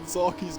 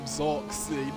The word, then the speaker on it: Zarky: Now, I've been pronouncing Zarky's name wrong, calling him Zarksy, no idea why.